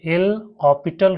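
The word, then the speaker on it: L'Hôpital: इसमें आपको एस जो है साइलेंट रहता है। इसको हॉपिटल एल ऑपिटल रूल बोला जाता है।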